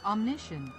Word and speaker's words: omniscient: Omniscient. Yeah. Yeah. Omniscient. What? Wait. It's American. Omniscient.